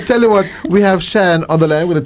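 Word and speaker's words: Shion: How you spell that? It's Cheyenne, S-H-I-O-N.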